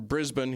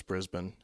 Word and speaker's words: Brisbane: thank you Shan from Brisbane he made sure that I knew how to pronounce Brisbane as opposed to Brisbane or something important in